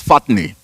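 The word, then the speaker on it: φάτνη: That word manger comes from a Greek word that is pronounced as fatne.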